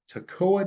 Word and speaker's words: Toccoa: mobile home Gallery uh it's in a Toko Toccoa Georgia I'm going to pronounce that word here correctly in a minute Toccoa Georgia beautiful homes brand new